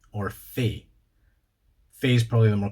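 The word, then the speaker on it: fae: 23 is frey or fey. Fey is probably the more common one, if you ask me. So F-R-A-E, frey, or F-A-E, fey.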